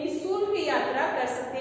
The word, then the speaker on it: निःशुल्क: प्रातः, अतः, ह के जैसे हलंत है कि जैसे इसका उच्चारण होता है, और ये विसर्ग का चिन्ह है।